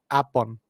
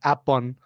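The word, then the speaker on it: แอปเปิ้ล: Thais pronounce the fruit apple, they call it apun. So it's apun, like B-U-N, bun.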